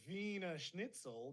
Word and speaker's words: Wiener Schnitzel: w-i-e-n pronounced veeam sorry then they have the vena schnitzel but it's actually w-i-e-n-e-r which we would say is wiener schnitzel English